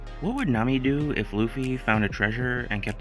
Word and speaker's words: Luffy: Guy saves her entire kingdom and she can't even pronounce his name right. Shake my head. Lucy. My name is Luffy.